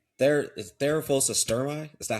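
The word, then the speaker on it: Theraphosa stirmi: There is Therophos sturmi.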